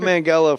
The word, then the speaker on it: Manganiello: what about according to joe mangello hard g joe mangello from pittsburgh the pride